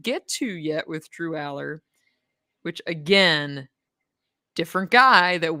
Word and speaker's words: Allar: you clarify this because yes it's Drew all quarterback Drew all Penn State his name is Drew Aller Drew yes this has